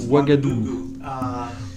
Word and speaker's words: Ouagadougou: j'ai dû apprendre à prononcer wagadou pour l'afrique de l'ouest on devrait travailler ensemble